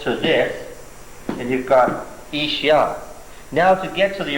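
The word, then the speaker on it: איש: Well, certainly, this here is a piece of the word man, ish. It's just missing the silent letter, aleph, at the front of it.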